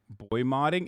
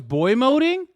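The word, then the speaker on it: boymoding: try to make then boy modding isn't that how you say it oh it's boy moding wait doesn't it sound cooler if you say boy modding though like you're modding like you're modifying that's what i thought that's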